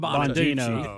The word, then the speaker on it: Bongino: Sometimes, It ain't Hannity has Bonaducci. him on every What's night. he doing? It's It not ain't him. Bongino. His last name is Bongino.